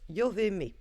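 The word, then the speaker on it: Jabamiah: Et nous avons la carte de Jabamia qui en réalité se prononce Yoveme.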